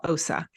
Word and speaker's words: Ossa: And it was when we came to America that my parents changed my name from Åsa to what it is now, Ossa.